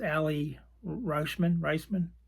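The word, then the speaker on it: Aly Raisman: I always mispronounce it. It's Allie Reisman.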